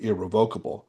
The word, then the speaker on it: irrevocable: Well, the hardest part of the job is learning how to pronounce irrevocable. Most people want to say irrevocable. I think both are fine, but we get this